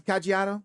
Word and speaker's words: Caggiano: Hey, did you pronounce Kajiano?